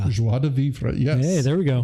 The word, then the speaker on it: joie de vivre: I'm going to try a pronunciation. Okay. Joie de vivre. Joie de vivre.